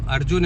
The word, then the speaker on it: अर्जुन: है कि वो ना अगर किसी का नाम अर्जुन है ना उसको अर्गन बोलेंगे ये मुझे लॉजिक समझ नहीं आता जी हालांकि जीम तो है बट वो अर्जुन की जगह अर्गन बोल प्रोनाउंस में नहीं आता उनके खोपड़ी में नहीं